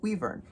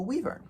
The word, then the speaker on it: wyvern: of Thrones dragons and yes I pronounce it weav if you would like